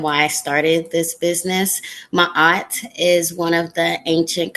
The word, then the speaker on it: Ma'at: But I want to start with the name of your company, Ma'at Tree House.